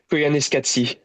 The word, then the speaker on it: Koyaanisqatsi: How do I pronounce the name of the movie? Uh, I don't know, but I pronounce it Koyaanisqatsi.